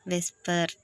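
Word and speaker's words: VSEPR: predicts shape of compounds abbreviated whisper whisper pronounced whisper stands for valence shell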